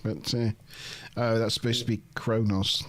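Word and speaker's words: Qo'noS: It's generally Q apostrophe O-N-O-S, Kronos. But they generally pronounce it Kronos. Nobody's ever explained why.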